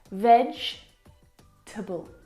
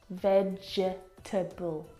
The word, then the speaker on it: vegetable: is a challenge because it looks like there should be four syllables in this word vegetable but there's not there are three syllables vegetable can you see the